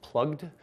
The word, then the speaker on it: PlugD: Probably should be pronounced plugged, but I call it PlugD because I refuse to follow conventions.